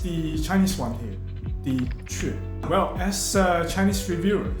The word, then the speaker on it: 阙: In Chinese, it's read as 雀, but if you try to pronounce it in English or Spanish, Q. Okay. Anyway, I'll stick with the Chinese one here, the 雀.